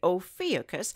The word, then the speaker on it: Ophiuchus: front of the constellation Ophiuchus or some say o fiocchis and let's spell it it's OPH i uch us as always the moon